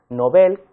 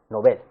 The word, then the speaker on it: novel: que está extendida o una pronunciación nobel que es equivoca ya que su correcta pronunciación es como una palabra aguda nobel deseamos que también los